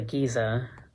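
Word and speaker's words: Gizeh: about this one so this is called the giza uh trying to find the actual pattern page but um and giza is spelled g-i-z-e-h um so this is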